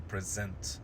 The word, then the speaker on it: present: Well, if we want to form the verb, then we have to put the stress on the second syllable, so it's going to be to present something.